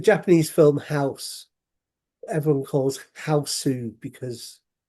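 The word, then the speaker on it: ハウス: It's a gu or a su because right there's no letter s on its own or g on its own.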